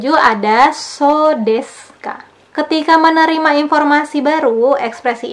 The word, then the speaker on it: そうですか: Di pola 7 ada so desu ka. Ketika menerima informasi baru, ekspresi ini digunakan untuk menyatakan telah mengerti. Diucapkan dengan notasi menurun. So desu ka.